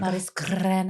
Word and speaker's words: Marizcurrena: Marizcurrena.